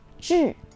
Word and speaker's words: 智: The Chinese pronunciation of this word is 智.